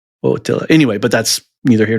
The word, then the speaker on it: Attila: I think A's in Hungarian are pronounced O when they're like that. Attila.